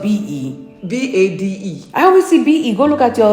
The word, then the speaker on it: Bade: But it's not spelled Bade, it's spelled B-E. B-A-D-E.